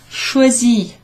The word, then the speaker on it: choisi: Choisi, choisi. I like saying this word. Choisi. Ch, like in Charlotte. Wa, like in soir. And then si. I can't think of any examples. Simona, like the name Simona.